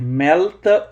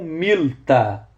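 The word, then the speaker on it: ܡܠܬܐ: A palavra em aramaico pode ser melta ou milta. Milta ou melta. Essa diferença é porque a pronúncia ocidental ela diverge da pronúncia oriental.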